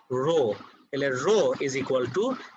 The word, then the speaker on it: rho: Density symbolটা খেয়াল করে দেখো, this is a Greek letter যেটার pronunciation হলো rho, তাহলে rho is equal to mv.